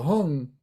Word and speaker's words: hung: This Heart Center but in tibetan they say it as hung so not to be